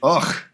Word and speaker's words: Ugh: Ugh is how you pronounce it. That's the proper pronunciation.